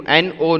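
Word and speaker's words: gnaw: N-O, no is different, and G-N-A-W, no is different. The pronunciations are same though, but the spellings and the meanings are different, right?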